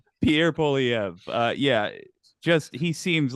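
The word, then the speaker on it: Pierre Poilievre: nailed it all right excellent I've heard perfect pronunciation Pierre poliev uh yeah just he seems like a sharper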